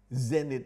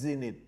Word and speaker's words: zenith: apex แปลว่าจุดสูงสุด pinnacle แปลว่าจุดสูงสุด zenith ที่คนอังกฤษออกเสียงว่า zenith อเมริกันออกเสียงว่า zenith zenith ก็แปลว่าจุดสูงสุด apogee ก็แปลว่าจุดสูงสุดpeak